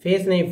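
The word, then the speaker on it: fasten: फसन थोड़ा सा बता जैसे लिसन को देखिए आप यहां पर लिस टी साइलेंट है ई एस के साथ आ गया तो लिसन उसी तरह एफ ए फास और टी साइलेंट है तो ई जो है इसके साथ आ गया तो फास पान पूछिए हमसे ना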